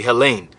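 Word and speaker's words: Ἕλλην: that word here is Helen or hel Helen if you want to say it correctly Helen it says a a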